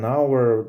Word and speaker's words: hour: an hour після an hour тут у нас Ну так само як hour an hour там h не читається еде фіде задзвонив мені